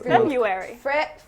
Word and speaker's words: February: It's often mispronounced as February, Yeah. which is incorrect because you're missing out on the R.